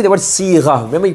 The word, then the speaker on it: صيغة: Now one thing here, when you say the word صيغة, remember you pronounce it, make sure you pronounce it صيغة. Sad followed by a ya sakin, sad, and a ya becomes si.